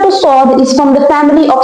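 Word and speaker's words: ص: This is the shape and the name is sword. Okay. Now sound of sword is basically just like the whistling sound as in scene but it is more deeper and stronger than the letter C.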